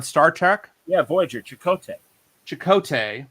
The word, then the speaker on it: Chakotay: Chakotay.